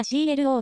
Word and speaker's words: CLO: ません梶原記者そのまま clo と読みます日本ではなじみ